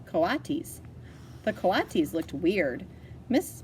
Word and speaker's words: coatis: Brisbane said reading from the letter pronounced coatis the Colossus looked weird mrs.